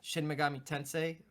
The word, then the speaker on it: Shin Megami Tensei: Shin Megami Tensei.